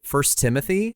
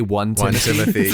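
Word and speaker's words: 1 Timothy: reads the Bible note he pronounces it first Timothy but if he were like someone who had no idea about the Bible he would absolutely like Trump say one Timothy yeah that's a good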